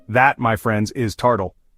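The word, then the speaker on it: tartle: All right, kicking us off is a word from Scotland and it's called tardle.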